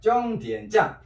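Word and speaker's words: 终点站: 정디엔짠, 정디엔짠. 정디엔짠, 정디엔짠. 정디엔짠. 정디엔짠. 자, 내가 한국 발음 해볼게. 종점참. 정디엔짠. 아니 내가 한국 발음 한개 들어봐. 종점참, 종점참, 종점참이 우리 발음이고 중국 발음은 종점참과 비슷하게 정디엔짠, 참.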